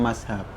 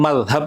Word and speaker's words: mazhab: Baik, pertama kata secara pelafalan sebenarnya mazhab ya. Jadi kalau teman-teman bacanya mazhab itu lebih ke dialek. Ya. Karena di beberapa dialek itu ada yang nggak bisa baca zal, zot dengan presisi sehingga jadi z.